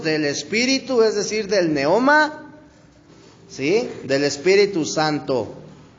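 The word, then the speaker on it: πνεῦμα: En el idioma griego, brother, la palabra viento, brother, se menciona como pneuma. ¿Sí? O sea, el neoma, brother, pero se escribe pneuma, así como se escucha, que significa aliento, significa viento, significa espíritu, brother, o soplo, ¿sí?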